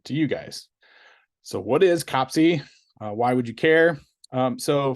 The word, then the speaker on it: COPC: Yeah, COPC or COPIC or COPIC, we're not quite sure. The community seems to be coalescing around COPC, but you'll hear COPIC quite a bit too. That's the English American pronunciation.